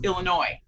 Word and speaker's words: Illinois: Pronouncing the S when we don't pronounce the S, it's Illinois. But I've heard people say, you're from Illinois?